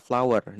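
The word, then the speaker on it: flour: Bacanya sama, Guys. Bunga itu flower, tepung juga flower. Jangan di tepung jangan dibedain jadi flower gitu atau flower. Tidak, tidak perlu. Mereka memang sama pengucapannya, pronunciation-nya sama. Empat.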